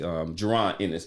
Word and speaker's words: Jaron Ennis: So it's actually Jaron Ennis.